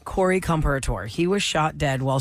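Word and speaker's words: Comperatore: Corey Comparator.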